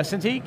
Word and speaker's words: Cintiq: Oh yeah, Cintiq, yep.